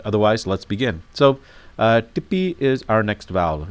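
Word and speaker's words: ਟਿੱਪੀ: let's begin so uh Tippy is our next vowel it's pronounced dippy and this is what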